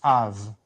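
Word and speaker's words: אב: So when you put those two together, it's numerical value 2, and you put those two together, you get a sound Av, pronounced Av.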